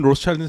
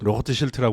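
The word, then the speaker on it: Rothschild: 영어 발음은 로스차일드는 사실 로트 쉴트라고 그래야 되는데 빨간 방패.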